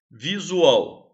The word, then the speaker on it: visual: Visual, visual. Tá legal? Vamos lá. Visual, sílaba tônica, ao. É a última, é oxítona.